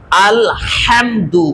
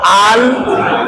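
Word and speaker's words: الحمد: সোরে আরেকবার আলহামদুলিল্লাহি এখানে একটু সতর্কতার সাথে বলবো আল হামদু গলার মাঝখানে একটু চাপ দেবো একটা হলো আল হামদু দেখেন একটা হলো দুইটা পার্থক্য একটা হলো আল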